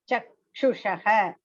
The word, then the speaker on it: चक्षुषः: Pashyanti jnana Chakshushaha. chakshushaha. Here, no, that C, you have to pronounce as cha only. CA is cha.